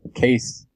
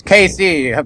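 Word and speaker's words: Cayce: know how many times for pronouncing Edward case with one e at the end not saying Casey like somebody can't understand it's the same person but okay there you go it's Casey one of my heroes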